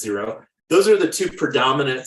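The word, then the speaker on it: Xero: QuickBooks or zero uh xcro I think it's pronounced zero those are the two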